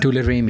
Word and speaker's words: Tularemia: How do you pronounce it? Tularemia? Tularemia.